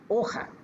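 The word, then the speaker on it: hoja: দেখেন এখানে আবার একটু একটু ভিন্নভাবে উচ্চারণ হয়। এটার এইচ ও জে এটা হয় হচ্ছে ওখা ওখা ওখা দে পাপেল তার মানে হচ্ছে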